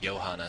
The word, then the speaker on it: Johannes: freelance as well um my name is spelled like like that j o h a n n s but it's pronounced uh yanas so um it's the soft J the European J uh what else um